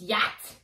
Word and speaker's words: yacht: There's no you in it. Yes, there is. No, oh, there's not. It's Yat.